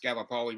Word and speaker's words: Gallipoli: we had the Gallipoli it's actually pronounced Gallipoli rather than gallipolar oh galloped uh yeah